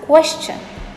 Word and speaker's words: question: a pretty straightforward word it is question some people pronounce this strangely as question i'm really not sure where this k sound is coming from but it is wrong it should be pronounced as question question i have to ask